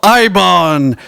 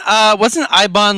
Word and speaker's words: Eibon: Curse of Ibon, Journey into Madness, melodic death / doom / occult metal from Sweden.